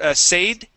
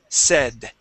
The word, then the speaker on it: said: Okay, so yeah, instead of said, said. Said. Okay, give me a D at the end.